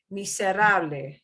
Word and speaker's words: miserable: But this one, we will not punch the end because it ends in a vowel. We'll punch the second to the last syllable. Miserable.